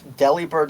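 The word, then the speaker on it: Delibird: People don't pronounce deli bird like delivery despite that's what the name is based off of.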